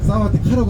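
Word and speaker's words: สวัสดีค่ะ: 사와티카라고 하시면 돼요.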